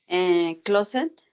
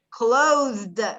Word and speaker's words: closed: Closet. Acuérdate lo que acabo de decir. No sería closet, ¿qué sería? La E silenciosa. Closet. Closed. Mira cómo la pronunciación. Closed, con la D.